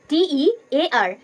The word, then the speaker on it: tear: T-E-A-R, tear. Tear means ছেঁড়া, কোনো কিছু ছেঁড়া, টু tear something. T-E-A-R, tear. Tear means অশ্রু, চোখের জল।